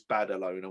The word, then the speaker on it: Badalona: in spain in battle owner and i'm not mispronouncing is badalona which is just outside barcelona just to add